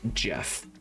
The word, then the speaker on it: Jeff: help jeff and yes that is how you pronounce his name it is not geoff that is jeff that one was easy